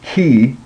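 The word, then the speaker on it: chi: sound so you the the way you pronounce this letter is key so just think about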